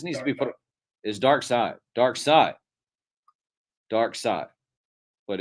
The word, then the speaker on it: Darkseid: Is Darkseid, but it's spelled seed, maybe. Yes, but it's pronounced side.